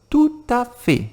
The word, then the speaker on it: tout à fait: Se você quiser confirmar alguma informação, você vai falar tout à fait. E aqui eu tenho que juntar novamente. Tout à fait. Como se fossem duas palavras.